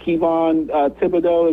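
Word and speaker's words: Kayvon Thibodeaux: be willing to trade, I think it's Kayvon Thibodeau is how you say his name, yeah.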